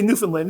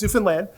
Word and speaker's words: Newfoundland: is that right everyone great Americans say Newfoundland it's Newfoundland that's um that's uh 59.